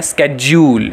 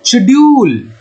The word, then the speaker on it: schedule: American pronunciation क्या है, स्केड्यूल, ये कहते हैं हम लोग अमेरिकन प्रोनाउंसिएशन, ठीक है, स्केड्यूल स्केड्यूल स्केड्यूल स्केड्यूल, okay. और इसका जो ब्रिटिश प्रोनाउंसिएशन है वो होता है शेड्यूल, शेड्यूल, ठीक है।